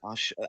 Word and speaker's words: Ashe: Um, I'm telling you, that All Black Wrestling promotion, Ashe, right, is how it's pronounced.